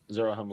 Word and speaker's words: Zarahemla: Zarahemla. Sound it out. Pretty much how it's spelled, or how it sounds.